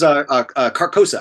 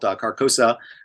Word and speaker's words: Carcosa: And yes, that was Carcosa. I think I got that. That's in one of my voice reels. I think I got the name wrong. It's technically called Carcosa.